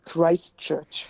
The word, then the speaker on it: Christ Church: is place oh yes Christ Church yeah we say it in the English not the German of course and slackened